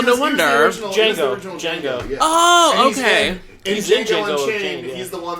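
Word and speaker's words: Django: wonder oral oh okay Jango and chain he's the one that like that sits at the bar and he goes what's your name he goes Jango it's uh the D is silent he goes I know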